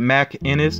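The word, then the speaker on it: MacInnis: way um you know my last name i pronounce it mac innis but you know somebody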